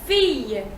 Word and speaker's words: fille: You have fille, which is girl, fille.